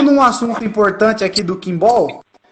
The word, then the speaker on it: Quimbol: E também em inglês, que é com B-A-L-L, Kimball. Os dois, a pronúncia é Kimball. a mesma.